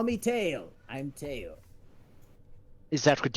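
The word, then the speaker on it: Tyle: their name call me tail i'm teo is that what you tell hello no no pronounce tail t-y-l-e tail what what brings you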